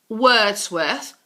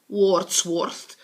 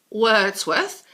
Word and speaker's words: Wordsworth: most famous poets Avatar William Wordsworth Wordsworth not warts worst Wordsworth and Samuel Taylor Coleridge